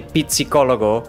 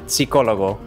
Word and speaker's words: psicólogo: For example, you don't say pizzicólogo, you say psicólogo.